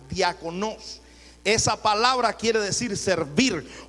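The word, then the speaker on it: διάκονος: Viene de la palabra griega que se pronuncia diakonos.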